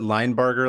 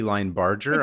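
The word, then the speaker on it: Linebarger: PA Paul I think I I pronounce it line Barger last week it might be line Barger I'm not sure if it's German I don't think it's j it's like the G sound line bar Paul lber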